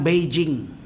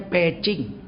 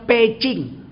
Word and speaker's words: Beijing: 2005 sampai di peacing orang sini ini bilang Beijing sebetulnya bacanya pching orang dulu bilang packing bebek packing zaman lama namanya packing sekarang karena tulisannya ditukar jadi Beh Beijing orang Cina Kalau Beh itu dibaca P kalau J dibaca cheh jadi Beijing itu bacanya peacing saya turunlah makan siang